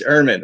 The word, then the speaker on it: Ehrmann: How do you pronounce your last name? It's Erhmann.